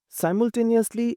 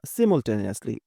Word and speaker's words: simultaneously: শব্দটিকে ব্যবহার করতে পারি সাইমটেনিয়াসলি বা সিমন্টেনিয়াসলি দুই ভাবেই উচ্চারণ করা যায় এটা ব্রিটিশ ইংলিশ এবং সাইমলটেনিয়াসলি এটা আমেরিকান ইংলিশ তাই এটা নিয়ে বিভ্রান্ত